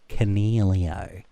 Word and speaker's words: Coniglio: And then what the heck do you do with Stephen Coniglio?